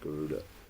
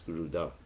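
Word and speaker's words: Garuda: right pronunciation is not guda it's guruda he has a you got to touch the tongue to the top of your mouth G that's not guruda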